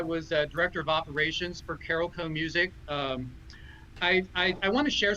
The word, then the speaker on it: Carolco: Is that how you pronounce it? Carolco. Carolco.